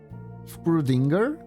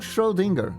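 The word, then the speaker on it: Schrödinger: and maybe it isn't what did I did I say that wrong how you're supposed to pronounce that screw Dinger it's not pronounced like that ah I see then the confusion is warranted shinger oh schrdinger not scroll Dinger okay you know what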